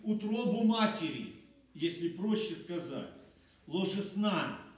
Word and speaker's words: ложесна: разверзающий утробу матери, если проще сказать, ложесна, ударение на последнюю букву, был посвящен Господу.